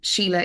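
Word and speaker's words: Síle: So Sheila is spelled the Irish way, so it's Sile.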